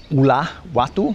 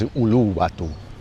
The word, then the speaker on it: Uluwatu: I sometimes say Ula Watu, which would be wrong. It's Uluwatu.